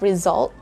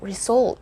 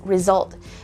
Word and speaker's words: result: you probably know already the correct pronunciation it's result but i usually hear people saying result for this so it's not again result it's not the u sound it's uh it's the schwa so it's result and then the letter